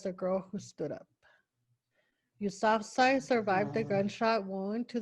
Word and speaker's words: Yousafzai: Mal- Yousafzai.